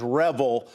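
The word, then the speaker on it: REvil: managed service provider so so you say revel i said revel i'm not sure which is more more appropriate here i'm going to take your word that the proper way to pronounce it is revel uh but it feels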